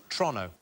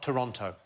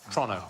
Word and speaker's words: Toronto: should be so it's Toronto not Toronto OH is it Toronto Toronto Toronto like as quick as you possibly can like it's a crime to say it Toronto of Toronto there